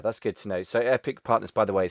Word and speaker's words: Aepic: way you're spelling it the a which is like in aesthetics is uh and it if you pronounce it it sounds like epic so that's why we